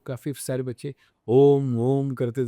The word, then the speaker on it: ओम: वैसे इसके 3 चरण करना चाहिए। अ, ओ, म। अकारा जो है वो छोटा होना चाहिए। फिर ओ रहता है उससे बड़ा होना चाहिए।